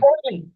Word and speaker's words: Orly: Orly, just like the airport in Paris.